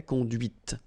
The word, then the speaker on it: conduite: Okay, so here you can listen to this t, t, okay, conduite.